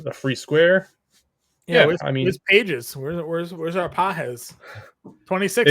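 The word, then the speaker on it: Pagés: Yeah, where's Pages? Where's our Pajes? 26. It is Pajes. That's how they say it.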